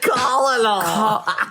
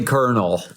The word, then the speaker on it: colonel: Colonial. Colonial. Colonial. It's actually Colonel. It's Mama, if you can't pronounce it, just don't say it.